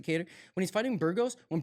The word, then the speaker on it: Kattar: I pronounce it Kattar.